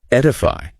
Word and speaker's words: edify: Edify, pronounced E-D-E-O. Edify.